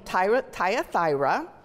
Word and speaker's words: Thyatira: goes boldly outside of tradition she is from thyatira I told you that just because that's how I was going to pronounce it she's from Taya thyra a region known for making purple dye which